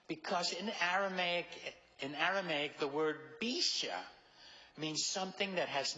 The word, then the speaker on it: bisha: But in Aramaic, the word is bisha. And you spell it the way it sounds.